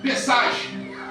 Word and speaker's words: Pesach: Quando nós olhamos para a palavra Páscoa, ela se pronuncia no hebraico Pesach.